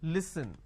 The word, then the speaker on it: listen: Now the listen word pronounced as l, e, s, li. So let me add a dash after that so that it's easier for you to understand. Okay, it's pronounced as li, s, n. Listen.